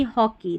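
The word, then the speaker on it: hockey: की money हॉकी, तो यहाँ पर ई शब्द के अंत में EY कई बार बड़ी ई की जैसे पढ़ा जाता है।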